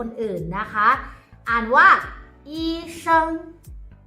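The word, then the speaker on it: 医生: ช่วย เหลือ คน อื่น นะ คะ อ่าน ว่า อี เซิง อี เซิง eason คุณ หมอ น่า รัก eason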